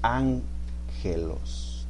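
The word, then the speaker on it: ἄγγελος: Ágelos, ¿sabes cómo se pronuncia? Ángelos. ¿Te suena conocido ángelos? Ángel. Como ángel.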